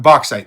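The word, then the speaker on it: Bauxite: I'm not quite sure how to pronounce that. Boxite. Boxite. There we go.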